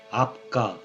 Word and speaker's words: 압가: 아보하, 압가, 압가는 하늘을 뜻하는데 아보캅이라 하여 아카로 읽어도 되지만 아과로 적힌 문헌도 있어서 중국 발음 아구아를 참고하여 압가로 정했습니다.